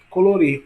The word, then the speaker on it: colorir: Colorir. Olha o colorir. Rir é a mais longa, portanto, é a mais forte.